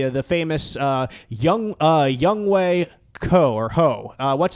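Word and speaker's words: Younghoe: Atlanta Falcons the the famous uh young uh young Way co or ho uh what's his young young way is how you pronounce his first name cou is his last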